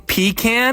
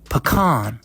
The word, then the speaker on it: pecan: Are we actually saying pecan? No. If you're going to say it, you say it right. Pecan. Like butter pecan!